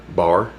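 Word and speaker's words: barre: comprised two distinct parts Bar and center the bar pronounced the same as the place where you can get a drink is the first part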